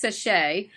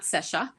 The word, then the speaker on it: SESHA: So it's pronounced SESHA, not SESHA.